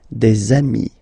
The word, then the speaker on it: des amis: Okay, and if you make the liaison, so the link between the two, you will get des amis.